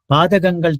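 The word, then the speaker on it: பாதகங்கள்: Padagangal Tirkam. Actually, you should correct it. It is not Padak. Okay, correct. It's correct. Okay, Padagangal Tirkam. It is pronounced as Ga, so it is written as Ka.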